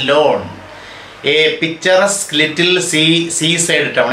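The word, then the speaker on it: Laugharne: The Thomases, the man and wife, settled in Lawn, L-A-U-G-H-A-R-N, it is pronounced as Lawn, a picturesque little seaside town.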